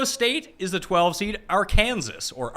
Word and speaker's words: Arkansas: right new mexico state is the 12th seed arkansas or arkansas as others tend to pronounce it are a four seed arkansas you